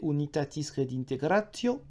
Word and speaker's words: Unitatis Redintegratio: décret sur l'écuménisme appelé Unitatis Redintegratio. Oui, je prononce à l'italienne, ça fera hurler les latinistes français, mais bon, voilà, tant pis.